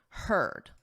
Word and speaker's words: heard: So you can think of it as her, him, her, and then just add a D, heard.